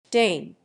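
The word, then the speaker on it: Dáin: Diane even gets his own chapter in the appendices, and they pronounce it Dane for some reason. Dane.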